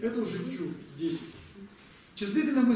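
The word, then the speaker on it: བཅུ: Это у нас как будет читаться? Чу. Почему чу? Потому что предписная не читается.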